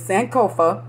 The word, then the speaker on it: Sankofa: But yeah, I'm going to say it, and then I'm going to spell it, and then, you know, y'all can go from there. But it's Sankofa, S-A-N-K-O-F-A, Apothearchy, A-P-O-T-H-E-C-A-R-Y, Sankofa Apothearchy.